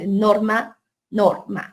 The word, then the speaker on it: norma: Norma, donde recae en la primera sílaba, norma, no recae en la segunda porque sería norma.